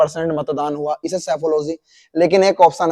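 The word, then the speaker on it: psephology: मैंने कहा बेटा पी सेफोलॉजी नहीं होता, ये सेफोलॉजी होता, पी साइलेंट है।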